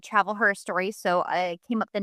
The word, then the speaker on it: Travel Her Story: Yeah, so I'm a travel blogger that has a blog called Travel Her Story. So I came up with the name because it's like history, but it's spelled with her.